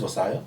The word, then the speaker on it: Versailles: Oh, this is Versailles? Yeah, Versailles, no, Versailles, whatever you can pronounce it. The behind part is silent.